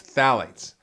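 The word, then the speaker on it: phthalates: the second endocrine disruptor to look for is phalates which is spelled p HT h a l a t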